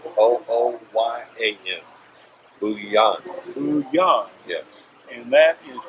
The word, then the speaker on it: Bujan: foo Yong be you today am and it's pronounced d oh oh why agent boo Yong Yong yeah and that is now so